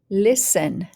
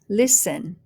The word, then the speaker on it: listen: one silent t first syllable lis lis second syllable n listen listen next one first syllable fast fast next syllable